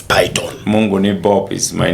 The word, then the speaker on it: Pyton: Due to some media spelling kind of things, people write the pronunciation Python, but it's Pyton.